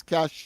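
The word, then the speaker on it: cache: Uh of course uh the word my word for today of course is cash. You know c a c h e right that cash meaning of course that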